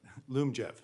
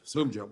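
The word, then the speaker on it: Lyumjev: So that means, I may be mispronouncing it, Liumjev, how do you pronounce that? Lumjev. Liumjev, wasn't close.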